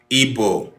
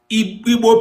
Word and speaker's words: Igbo: The word Igbo was born when the British, who colonized our community, our forefathers, our ancestors, could not pronounce this sound because it is unpronounceable by them.